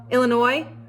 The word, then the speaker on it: Illinois: "Yes, my name is Illinois, and I need one airline ticket to, Illinois? No, the S is silent.